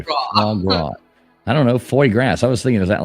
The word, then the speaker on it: foie gras: Foie grass is a French delicacy.